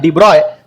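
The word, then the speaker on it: de Broglie: देवराई ने इसका स्पेलिंग जिनका स्पेलिंग दी ब्रोग्ली रखा जाता है लेकिन प्रोनाउंस कैसे करना है डिब्रॉय और इन्होंने एक हाइपोथेसिस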